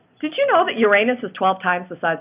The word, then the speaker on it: Uranus: okay very heavy on Uranus that is the right way to pronounce it and like the the faint of heart say Uranus which how is that better sound different than saying you're anus yes it is but